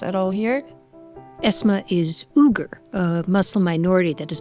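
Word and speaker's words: Uyghur: all here esma is ugar a Muslim minority that has been fighting for autonomy from China for years you may have heard it pronounced weager her parents left Northwestern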